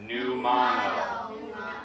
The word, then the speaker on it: pneumonia: So, this P is actually silent. It's a silent P like pterodactyl starts with a P. Okay, so this we're going to say this together. It's pneumano.